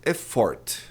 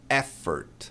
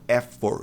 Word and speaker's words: effort: Olha lá, muita gente diz effort, mas muita gente mesmo. Não é effort, é effort. E esse? Esse o aqui tem som de e átono. E não, effort.